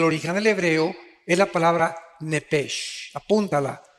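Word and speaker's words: נפש: Digo, por favor, esta palabra alma, en el original hebreo, es la palabra nepesh. Apúntala, como suena nepesh, con SH. Se pronuncia nepej.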